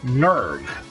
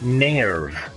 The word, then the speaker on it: NERV: in the old tub the organization that the a of a team works for is called nerve right and the new one they pronounce it near maybe that's the correct way to pronounce it I don't know but